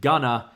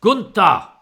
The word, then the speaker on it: Gunther: and bivens once again calls him gunner he goes it's pronounced gunta and you will show